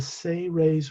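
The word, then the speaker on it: Seres: a representative of the say ray's race s-e-r-e-s it's pronounced as if you phonetically pronounced it s-a-y hyphen r-a-y-s say rays they're the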